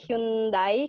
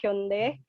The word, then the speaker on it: Hyundai: Terus ini lagi field trip yang tadi sama kayak Setiza di Hyundai kalau kita bacanya, tapi cara bacanya sebenarnya adalah Hyundai.